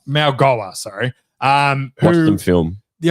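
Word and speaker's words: Mauigoa: It's pronounced Malgoa.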